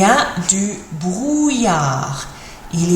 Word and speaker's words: brouillard: Il y a du brouillard. Il y a du brouillard. Difficult looking word to pronounce that. Double L in a word is usually pronounced like a Y sound.